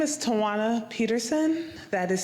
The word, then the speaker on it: Toana: lot stop the chair okay my name is toana Peterson that is spelled TW w n a Peterson p e